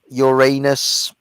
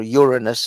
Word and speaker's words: Uranus: You can zoom in on all the various different planets: Saturn, Jupiter, Mars, Uranus, or Uranus is actually how it's supposed to be pronounced, but whatever.